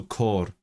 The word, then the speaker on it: côr: So the hat, or the het in Welsh is a long vowel, so côr. chord.